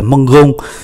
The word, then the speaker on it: mangeons: Ở đây thì là mangeons, do đó người ta thêm ký tự ơ vào, ơ vào để biến toàn bộ cái cách phát âm này thành là giờ, giống như toàn bộ các cái vị trí khác: je mange, tu manges,